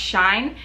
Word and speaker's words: Shein: I know a lot of you are a little skeptical of the website Shein, or I've also heard it pronounced Shine, but I have so far had great success with it.